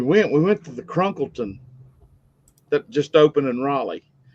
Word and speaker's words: Crunkleton: You say crumpleton. Cr n k l e t o n. Crunkle ton. Okay. You said it right, Mark.